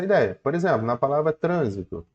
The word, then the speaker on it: trânsito: palavra Então vamos lá quando você fala Trânsito você consegue observar o seguinte chama a palavra o trânsito o trito tá vendo que a sílaba TR ela ganhou mais força Então como ela ganhou mais força ela é tônica show de bola agora F você tá vendendo a palavra Olha o trânsito você não fala olha o transito nem olha o transitor você fala olha o trânsito então a palavra a sílaba